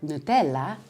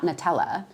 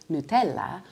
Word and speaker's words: Nutella: And two of my favorite flavors are Nutella, not Nutella, Nutella, or pistachio, not pistachio, pistachio.